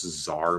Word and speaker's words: czar: some weird i guess czar maybe like c-z-a-r the tsar of russia i mean but there's also a z there like it's just written with a silent c at the beginning or whatever and there's